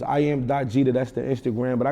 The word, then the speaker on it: Gidda: the g d da it's not GA it's Jeter so it's I am. jeta that's the Instagram but